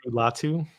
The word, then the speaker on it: Latu: Latu.